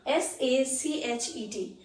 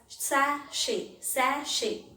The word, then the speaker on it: sachet: i have written here s-a-c-h-e-t it is pronounced as sashi it is not pronounced as sachet it is not pronounced